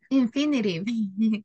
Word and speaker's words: infinitive: yes okay so we we pronounce infinitive because we have letter T between two bowels all the time that you have a letter t between two bowels it sounds like a letter r that's why it's called